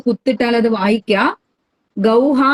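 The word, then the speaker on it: ഗൗഃ: ധേനുഹു, ധേനുഹു അല്ലെങ്കിൽ ഗൗഹു എന്നും അതിന് പേരുണ്ട്. ഗൗ എന്ന അക്ഷരം കഴിഞ്ഞിട്ട് 2 കുത്തിട്ടാൽ അത് വായിക്കുക. ഗൗഹ എന്ന് വായിക്കരുത്, ഗൗഹു, ഗൗ, ഔ എന്ന് അവസാനിക്കുന്നു.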